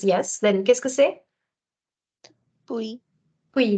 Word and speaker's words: puis: Puis. Puis. The S is silent and you say then.